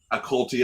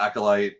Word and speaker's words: acolyte: all the time like I said a cold tea as opposed to Acolyte and all this other